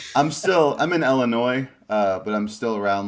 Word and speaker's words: Illinois: one's the correct way i know the s is kind of like weird in there but yeah you know it's very silent with illinois okay so no s